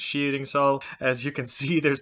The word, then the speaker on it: Skiringssal: pong for a second showing you skeeting solid that's how it would have been pronounced in old norse but in modern norwegian it's cheating saul as you can see